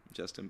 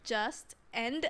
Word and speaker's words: Justen: Yeah, because I mean your name is already not spelled like Justin. It's like Justeen.